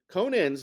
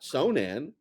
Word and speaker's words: Conan: So it looks like it's, and the other thing too is, Conan, Conan's name is Conan. His name is not Sonan.